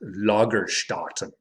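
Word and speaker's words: Lagerstätten: to life lagerstop so there should be two little dots above the a in that word umlaut fortunately i took german in high school so i know that that would be pronounced lagerstotten so loggerstartens are examples of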